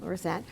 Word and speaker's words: Lorenzet: the Law School, and Dean Steve Lorenzet. Am I pronouncing that correctly? That's right. Yep. Lorenzet, who is the Dean of the School of Health Sciences.